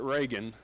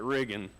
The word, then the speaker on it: Reagan: They don't call it Reagan like it's spelled, they call it Riggin.